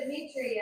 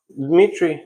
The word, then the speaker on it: Dmitri: She's like, I hear you're taking good care of Dimitri. I said, nope, Dimitri's taking good care of me. So. I think I said your name wrong. How do you say your name? Dmitri, yeah. Okay.